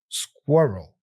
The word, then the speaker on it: squirrel: simplified square roll squirel squirrel all right so here's the tip divide the word into squir roll you break it down into two parts or two sounds squirel